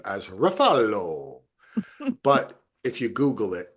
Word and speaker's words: Ruffalo: Number 1, Mark Ruffalo in Task.